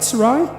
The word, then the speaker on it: Sarai: don't know how to say that it's Sarai to begin with yes is that right Sarai yes okay and then it's Sarah and that